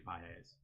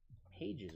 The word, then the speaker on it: Pages: So his is actually Pes actually. Really? Yes. Andy Pes. Pah. Yes. Andy Pes. Yeah. Exactly how. Exactly. Right. Yeah. Pages, bro. Spelled. I just read it how it's spelled, bro.